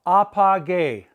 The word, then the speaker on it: apagué: They're going to have a gay at the end with an accent on the E. We must maintain the hard G sound, the ga sound. I turned off, apagué.